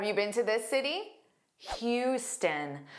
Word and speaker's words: Houston: Houston. So notice the beginning is Hugh. It looks like the beginning spelling of house or how but it's not.